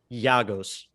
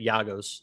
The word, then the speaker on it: Giagos: But I think And actually, I have in my notes that it's Giagos, like with a Y. I forgot I even wrote that down on how to say it. Giagos.